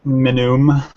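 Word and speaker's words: Minuum: Pronounced Minum.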